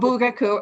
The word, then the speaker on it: Bugaku: This is him in Bugaku. Yes, am I saying it wrong? No, you said it right. Oh, Bugaku.